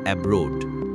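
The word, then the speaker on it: abroad: আর ব্রুড হলো stressed syllable. তাই ভাওয়েলের long sound হবে। ব্রোড সিলেবেলে ভাওয়েল টিম ও এ মিলে সাউন্ড হবে ও আইপি অনুযায়ী এই শব্দের সঠিক বাংলা উচ্চারণ হবে এব্রোড যার অর্থ বিদেশে এই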